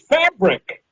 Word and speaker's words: Phabriq: You find and to find you personally is through your website, which is Fabric. But it's not spelled like you think about it. It's PHABRIQ, right?